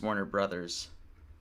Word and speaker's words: Warner Bros.: And we kind of convinced ourselves then that it would go yes because, you know, the way you pronounce Warner Bros is Warner Brothers.